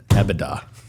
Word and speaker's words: EBITDA: EBITDA.